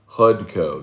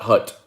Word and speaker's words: Hudco: my sign hotkey kelly hud hudco not hut hud it's important when